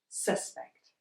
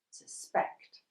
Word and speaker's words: suspect: In a two-syllabled word - that is a word with two sounds... If we have a noun, most of the time we emphasise the first syllable... suspect, and if we have a verb, we emphasise the second syllable... suspect.